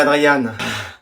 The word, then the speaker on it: Adrien: Tu préfères que je dise Adrien ou Adriane? Comme vous voulez. Adrien, ça va? Je préférerais Adriane.